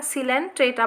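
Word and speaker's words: Coelenterata: ठीक है, इसमें ओ साइलेंट है, हाँ सिलेंट्रेटा पढ़ेंगे इसको, या नाइडेरिया, इसमें सी साइलेंट है, नाइडेरिया।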